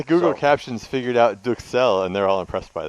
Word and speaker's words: Duxelles: Duxelles. But Duxelles. it's pronounced duxelle. But you can call it a duxelle.